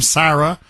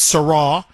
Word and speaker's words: Sarah: uh Cardinal Sarra is I guess how you pronounce his last name, Sarah, but it's Sarra.